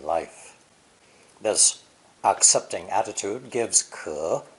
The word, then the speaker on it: 可: So today's first character combines this phonetic with the mouth radical to create another third tone ideogram pronounced ke, ke.